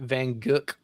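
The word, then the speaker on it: Van Gogh: Oh, Van Go. Yeah, Vincent Van or uh Squack says French pronounce it Vanuk.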